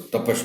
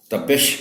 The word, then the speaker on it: تپش: جزم ہے۔ لطف، تپش، یہ لفظ عام طور پر غلط بولا جاتا ہے، اس کو تپش پڑھتے ہیں لوگ، تپش ہے، تپش۔ طلباء کو مشکل الفاظ